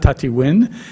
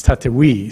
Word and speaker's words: Tatewin: It's not Tatiwin. It's Tatawi. So uh so but it's